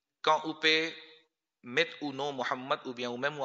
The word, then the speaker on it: محمد: To ye sahi pronounce nahi hai. Wo Mamed nahi tha, wo tha Mahmood tha ya Muhammad tha. Aur Mamad aksar Muhammad hota hai. To koshish karke, agar aap itna khubsurat pronounce nahi bhi kar sakte, Muhammad, ye nahi bol sakte, to kam az kam Muhammad bol de.